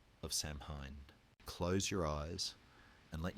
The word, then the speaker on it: Samhain: Samhain, pronounced roughly Samhain, was not merely a festival of harvest.